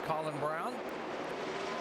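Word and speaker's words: Braun: it is spelled bra but it is pronounced Brown It's Colin Brown whoa stry trying to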